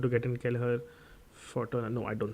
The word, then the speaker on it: Kelleher: I think Kelleher. That's how you pronounce it, but yep, he'll start for goal.